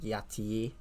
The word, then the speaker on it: Ity: it's egyptologically written um the root constructed pronunciation is probably something more like yati or something like that or ATI um but